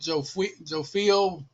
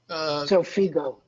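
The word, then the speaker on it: Xofigo: The oncologist, the radio oncologist mentioned PDL1 treatment and probably mispronounce it, Zofio. Zofigo.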